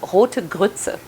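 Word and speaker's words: Rote Grütze: german which is where i'm originally from it's pronounced it's called hotegutsu which means red grits and essentially all it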